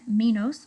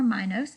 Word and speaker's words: Minos: over in ancient days King Minos or my nose I've seen it pronounced both ways I'm gonna go with Minos King Minos ruled the